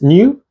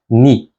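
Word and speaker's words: Nu: this is the uppercase new and this is the lowercase newu new is sometimes also called ni so we can call these mu and new or we can call them me and ni this letter is called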